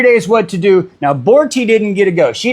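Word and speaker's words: Borte: And here we get the history and the story of Borti.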